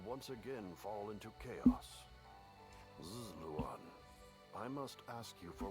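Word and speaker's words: Ziluan: Zluan, I must ask you for one thing. Is that how it's supposed to be pronounced? I'm sure other people said it differently. Zlan like the eye is silent.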